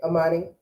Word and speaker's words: Imani: a little bit of amani's intro okay amani pronounce your entire first name and then i'll go